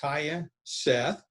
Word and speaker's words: Tya Seth: from the isu golf team her name is taya seth i believe that's how you pronounce it right yes sir and uh you